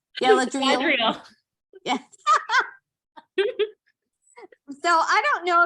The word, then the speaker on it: Galadriel: What gift does Galadril give Gimly at the parting feast? What gift does Galadriel give him at the parting feast? I'm laughing at your pronunciation. Sorry. What is it? Galadriel.